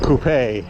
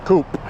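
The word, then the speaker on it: coupé: The coupe, as they say in Europe, which is probably the correct pronunciation in French. Le coupe. The coupe.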